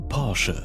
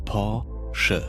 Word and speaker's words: Porsche: ये सिखा रहे हैं कि पोर्शे को कैसे प्रोनाउंस करना है। Porsche. Porsche.